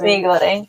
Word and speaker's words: mee goreng: Yes, mee goreng.